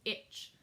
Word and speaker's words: ITCZ: Convergence Zone ITCZ and it says pronounced itch I'm gonna say itch the itch follows the